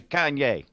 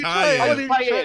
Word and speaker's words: cayenne: It's not called Kanye, though. What's no, it? It's Cayenne. Oh, Cayenne. That's how you pronounce it.